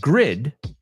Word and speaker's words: grid: The second word, grid, rhymes with lid. Say them with me. Grid rhymes with did.